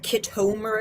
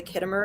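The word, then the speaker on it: Khitomer: And she called it the Kitomir Accords instead of the Kittimer Accords.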